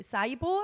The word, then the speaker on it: syboe: But it's spelled, somebody actually said it's spelled like SYBOE, so it's like Saibo.